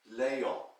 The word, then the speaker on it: Léon: You see, my name in French is pronounced Léon.